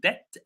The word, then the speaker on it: debt: If you take a loan from the bank, you will be in debt for a long time. The B again is silent.